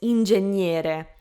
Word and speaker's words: ingegnere: So be careful not to pronounce the G. Like, I feel like it comes naturally to say the G, obviously, because it's written in English. You pretty much always pronounce it, except for words like enough. Ingegnere, not ingegnere, okay?